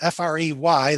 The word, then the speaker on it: Frey: Now, F-R-E-I and F-R-E-Y, the family name, are both pronounced Frey, but Ich bin Frey means I am free.